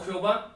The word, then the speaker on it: Jehová: Ese en el castellano, en el español, se puede pronunciar Yahvé, Yahweh o Jehová, pero todo esto, todos esos nombres que son uno solo o que son lo mismo, significan el que es.